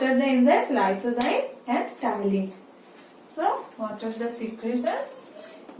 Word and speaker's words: ptyalin: It starts with P, but name is ptyalin because P is silent. Okay, so it is ptyalin.